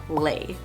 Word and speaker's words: Le: and by the way that is how you pronounce my last name lay now let's go ahead